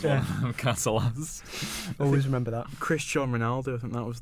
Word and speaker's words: Cristiano: Do you remember how people used to mispronounce like Ronaldo's name in primary school? Cristiano Ronaldo and Christian Ronaldo.